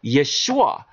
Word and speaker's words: Yeshua: in with Jesus so Jesus right here is referring to Joshua or Yeshua which would be the proper pronunciation right into the possession